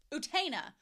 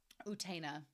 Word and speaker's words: Utena: to the Japanese UTA utena so it's like utina utena you I know I may say